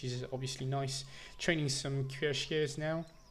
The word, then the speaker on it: cuirassier: Training some cuirassiers now. I don't know why I tried to put some kind of accent on this word, but we pronounce that cuirassier actually.